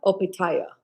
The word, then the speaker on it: Opetaia: Opetaia Opetaia Chet said that's how you say his name.